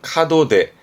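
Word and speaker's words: 門出: 발음은 카도데.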